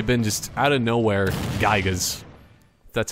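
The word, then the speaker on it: Giygas: With his psionic abilities of this and that, but yeah, it should have totally been just out of nowhere Gygas. That's how you pronounce the name.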